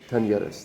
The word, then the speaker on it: Talleres: Talleres. That's how you say it.